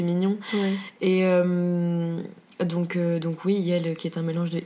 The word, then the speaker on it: iel: Yel. Yel, ok. Yel qui est un mélange de il et elle, ouais. Qui s'écrit IEL, tout simplement.